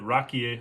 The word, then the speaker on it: raki: Next thing on our list is raki, and the fact that rakie or rakia, it's actually pronounced raki here in Albania.